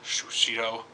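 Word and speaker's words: Sushido: The reason why I'm doing this video is because I played the demo of that Sushi Striker game, The Way of Shushito.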